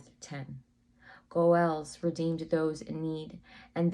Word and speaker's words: goel: If a man died or was facing hard times, a goel could help. Goel is spelled G-O'-E-L, and it is the Hebrew word translated as a redeemer and often referred to as a kinsman redeemer.